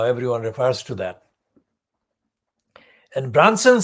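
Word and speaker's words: Brunson: And that man was called Michael Branson, not like Richard Branson, it's spelled B-R-U-N-S for sugar, O-N. So Michael Branson actually reported in his then capacity as the political editor of ITB, ITN News.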